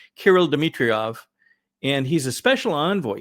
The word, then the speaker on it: Kirill Dmitriev: What a number of folks questioned, the gentleman from Russia is, I believe, pronounced Kirill Dmitriev, and he's a special envoy.